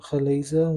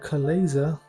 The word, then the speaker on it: chalaza: So simply grab it with your hands, your fingers, and remove the glazer, which is the stringy bits that I know a lot of people find disgusting.